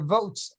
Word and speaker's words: Voatz: If your phone dies, you're gonna have a hard time using your Votes app, VOATZ, as it's spelled.